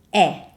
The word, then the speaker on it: è: In Italian, is è. Questo è un vecchio amico mio. And when we say is in Italian, that's an E sound, and it's an open E sound.